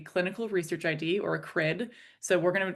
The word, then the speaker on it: CRID: Her talk today brings us a new and important set of initials C R I D pronounced CRID.